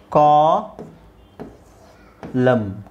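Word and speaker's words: column: mn mn ಅದು ಕೊನೆಯಲ್ಲಿ ಕೊನೆಯಲ್ಲಿ ನಿಮಗೆ mn ಒಟ್ಟಿಗೆ ಬಂದಾಗ ಈ ನಾವು ಸಾಲಂ n ಅನ್ನ ಸೈಲೆಂಟ್ ಮಾಡ್ತೀವಿ ಓಕೆ ಸೊ ಇದೇನಾಗುತ್ತೆ ಅವಾಗ ಎಟಮ್ ಆಟಮ್ ಆಟಮ್ ಇದು ಹಿಮ್ ಹಿಮ್ ಇದು ಕಾ ಲಂ ಕಾಲಂ ಕಾಲಂ ಇದು ಸೋಲಮ್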